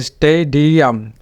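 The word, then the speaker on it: stadium: কাম আর এটা হলো এসই এস্টেই ডিআম এসই এই দেখুন এসই ডিআম এসই ডিআম এটা এটা কিন্তু এই সাউন্ডটা কিন্তু লং হয়েছে যেহেতু এটা ওপেন সিলেবল স্টেই ডিআম এরপরেরটা এটাও কমন বাট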